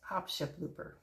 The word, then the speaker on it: opscheplooper: It's opscheplooper. Yes, opscheplooper. Sounds very German, but it actually isn't.